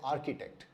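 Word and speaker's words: architect: अगर आपने इसको आर्किटेक्ट पढ़ा तो ये उच्चारण भी सही नहीं है, क्योंकि इसका सही उच्चारण, सही प्रोनाउंसिएशन है आर्किटेक्ट।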